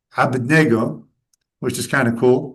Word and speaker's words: Abednego: And among those, there were the names Abednego, which is pronounced in Aramaic, Abednego, which is kind of cool, right?